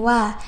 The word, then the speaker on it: は: Wah, di sini ada ha, di sini ada ha lagi. Nah, padahal untuk ha yang depan ini adalah partikel ya, yang mana cara bacanya adalah wa gitu ya, teman-teman.